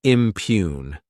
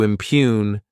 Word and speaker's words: impugn: Next is the verb impugn. To impugn this word has two syllables and the stress is on that second syllable.